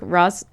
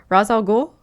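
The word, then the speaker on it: Ra's al Ghul: when do you think Ros sorry I always say this name wrong Rosal ghoul yep will be brought in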